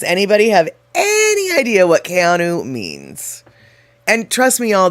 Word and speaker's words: Keanu: So, basically what she's saying is she had no idea um that Kayanu, which is how you say it, not Keanu.